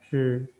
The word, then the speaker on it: 枝: Nah, ini bacanya zhi. Kemarin kita juga udah belajar tulisan zhi juga nada pertama zhi, tapi 一支铅笔 satu batang.